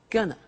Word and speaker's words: going to: to take the tube now very often when you hear this form you hear a pronunciation like Gunna so they're going to